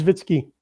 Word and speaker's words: Zwicky: Um, I feel like I pronounced that wrong. I think it's Zvitsky. Zvitsky. That's right. That's right. It's the fact that there's like it feels like there should be a VS there and not the C.